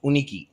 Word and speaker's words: Yunikee: years ago it's called uniki Uh while it is spelled Yu n i ke e uh we SP we pronounce it uniki right uniki in some